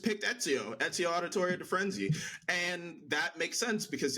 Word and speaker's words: Firenze: It is Firenze. Like you pronounce the e like an eh, not a inze. Oh, okay. Firenze.